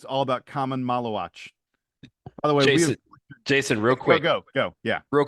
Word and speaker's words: Maluach: Yeah, I was going to say, by the way, we've mispronounced his name many, many times. We've now that he is officially a recruit, that's all it took. A member of the Duke class 2024, Maluach.